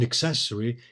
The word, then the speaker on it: accessory: An accessory here for prosody emphasized on the first syllable in the legal sense